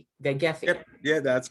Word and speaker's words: Vaghefi: Vaghefi.